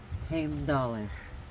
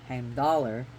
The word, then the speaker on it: Heimdall: got a cat bite so anyways who is H dollar okay so as you notice how I'm pronouncing it with the at the end cuz